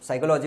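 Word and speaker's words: psychology: उसको मनोविज्ञान बोलते हैं और इसमें पी साइलेंट रहता है जब भी पी एस वाई लिखा रहता प हमेशा साइलेंट रहता है तो साइकोलॉजी बोलते हैं साइकोलॉजी मत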